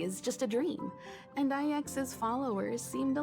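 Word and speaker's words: IX: just a dream and ex's followers seem to like that claim it really bothers me that that name is apparently pronounced ex and not either X or nine I'm Batman it's okay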